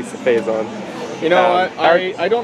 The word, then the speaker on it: Phazon: Yeah, I say Cephazon, but it is supposed to be Phazon.